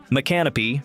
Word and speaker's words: Micanopy: Micanopy, pronounced Mick-uh-no-pee, is named after a seminal chief and is recognized as Florida's oldest inland town, established in 1821.